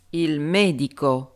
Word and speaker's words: medico: Par exemple, il medico, le médecin, il medico, les médecins, i medici. On entend très bien que l'accentuation est sur avant-dernière syllabe.